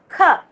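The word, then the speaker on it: ख: This is first ka that you will not stress and pronounce, but the next ka you will stress it and pronounce kha. Okay, with the stress you have to pronounce kha. Okay, air should come out of your mouth.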